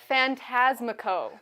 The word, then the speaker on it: Phantasmico: It is Phantasmico. Mr. Phantasmico. Did I get it? You did. You got it. You got it perfectly.